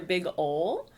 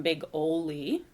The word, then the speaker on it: Big Ole: it's his name so most people think he's either big ol or big olay so we did make a point on his sign over at big oly park to pronounce his name um big oley because it's definitely scandinavian heritage and you know in